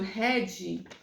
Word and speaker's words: Hadi: Chegando lá, o doutor Red, Dr. Hadi, só que o nome dele se escreve Hadi.